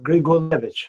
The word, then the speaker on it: Grigulevich: I guess I know you kind of, you're in your intro, you talked about, it's Grigulevich, right? I mean, is that how you pronounce it? Joseph Grigulevich.